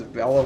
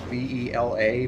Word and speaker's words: Vela: I used to always pronounce Vela as Vela when I was a kid, V-E-L-A, but ever since I heard one person pronounce her name as Vela, I thought that sounded cooler.